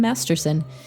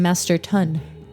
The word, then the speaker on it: Masterton: And I said it was by Graham Masterson. That is not his name, listeners. His name is Graham Masterton. I said his name wrong.